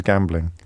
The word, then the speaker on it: gambling: I pronounce gambling wrong, don't I? I stick an extra syllable in it. Everyone else says gambling, and I say gambling.